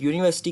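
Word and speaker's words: university: हो रहा है, बट यूनिवर्सिटी की जो करेक्ट प्रोनाउंसिएशन है मैंने उसके आगे ब्रैकेट में लिखी है यूनिवर्सिटी, यू वाई के साथ यूनिवर्सिटी। तो जो इसकी करेक्ट प्रोनाउंसिएशन है अकॉर्डिंग टू नेटिव स्पीकर्स वो यूनिवर्सिटी है, यूनिवर्सिटी। सो यू जो सा वर्ड है वो यू से स्टार्ट नहीं हो रहा, वो हो रहा है YEW से।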